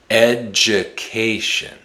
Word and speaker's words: education: The d usually makes a j sound when it's followed by the letter u. Education.